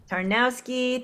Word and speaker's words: Tarnawsky: How do you say her last name again? Tarnawsky. Tarnawsky, thank you.